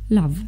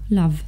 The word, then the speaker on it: love: A tutaj zamiast tego o powinniśmy czytać króciutkie a. Takie są zasady według słownika, tak? Według poprawnej wymowy powinniśmy mówić tutaj love. Wiem, że często mówicie mi, że jak słuchacie piosenek czy oglądacie jakieś filmy, słyszycie love, ale to powinno być króciutkie a, love.